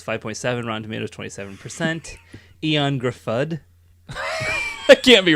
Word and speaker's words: Gruffudd: Eon Gruffudd. That can't be right. That's not how you say his name at all, Brent. Gruffudd. Oh, honey. Guru food. Gruffudd.